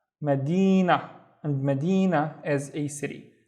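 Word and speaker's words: مدينة: So the first syllable is ma. This is the shape of the ma at the beginning, ma. And then we have di, na, Medina.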